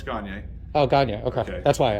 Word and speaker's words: Gagne: No, it's Gagne. Oh, Gagne. Okay. That's why I asked. All right. Cool. If you can't pronounce it that way, think of Kanye by Gagne.